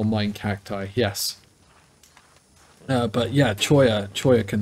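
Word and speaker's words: cholla: looks like it's spelled Chola but it's it's pronounced choya but yeah yeah uh right anyway I'm gonna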